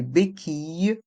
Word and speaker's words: béquilles: en roulant des béquilles dans le mot béquille il y a le son i avec les lettres i de l e des béquilles et le S de béquille est mué ainsi que le thé de roulant est mué des béquilles un fauteuil